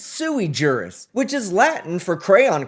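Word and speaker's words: sui juris: the words right because it's not Sue jurus it's suei jurus which is Latin for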